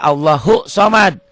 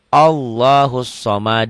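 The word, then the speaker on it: الصمد: HD Hai allohu Somad jangan banyak orang yang baca Allahu Somad lain artinya disini ilmaariefah ada alif lam nya walaupun alif lam ini enggak dibaca tapi ada pengaruhnya makanya bacanya Allah house made allahussomad the Hai lam yalid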